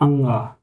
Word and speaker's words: ङ: इस वाले वर्ड को हम बोलते हैं अंगा।